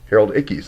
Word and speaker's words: Harold Ickes: Harold Ickes, I'll pronounce that right now. I've said the name wrong forever, but I got the catalyst right, and it's embedded.